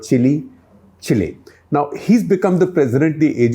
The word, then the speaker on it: Chile: Once again, correctly pronounced the Spanish way, Chile, not Chile, Chile.